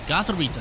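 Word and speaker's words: Gothorita: what he does here gothic g rita gotharito that's how you pronounce it ends asking come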